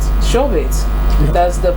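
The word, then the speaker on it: Shobhit: All right, Shobit. Yeah. That's the pronunciation.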